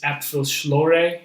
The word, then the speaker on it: Apfelschorle: I still don't pronounce it right. It's Apfelschorle or Schlor, but it's like apple juice soda.